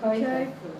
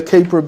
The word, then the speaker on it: Kuiper: How do you pronounce it? Kuiper.